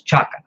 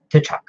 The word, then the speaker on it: T'Chaka: #19, where he actually says that the T is very silent, or the T is not pronounced, isn't pronounced. So Chala, just like his father, is Chaka, not T'Chaka.